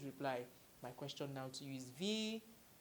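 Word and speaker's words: wie: is the Kaizen z v - z v - z v Kaizen Z let's take it together v of course you know from the alphabet that W is pronounced as V right Kaizen is the verb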